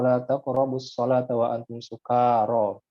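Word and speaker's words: سكارى: Ya ayyuhalladzina amanu la taqrabus sholata wa antum sukara. Itu bacanya sukara, kanya panjang.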